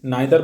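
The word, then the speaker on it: neither: ইট ওয়াজ ব্যাড, এটা খারাপ ছিল, বিকজ কারণ, জন কুড নাইদার, এটার উচ্চারণ কি, নাইদার বলতে পারি ব্রিটিশ ইংলিশে, আমেরিকান ইংলিশ এখন আমরা যদি বলি নিদার বলি।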